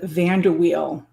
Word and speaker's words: VanderWeil: it's it's an unusual it's an unusual pronunciation uh so go ahead van der wheel van der wheel okay you say it